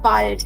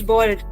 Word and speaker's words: bald: Now, what is the meaning of bald? It is not bald. Okay? It is not the English bald. This word will be pronounced as bald.